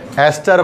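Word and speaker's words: ester: ईस्टर की spelling में EASTER, ईस्टर लिखा होता है उसमें, ES है तो एस्टर पढ़ेंगे उसको, ठीक है।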